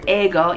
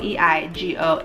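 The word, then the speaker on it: 英語: So as you can see right below where my Japanese characters are, it says eigo, E-I-G-O, eigo, which is English in Japanese.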